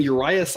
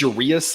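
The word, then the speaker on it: Urías: guys match up here I don't know why I've been saying Urias I I it's your Reus I've been saying that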